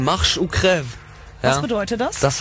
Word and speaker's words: Marche ou Crève: Den spricht man Marche ou Crève.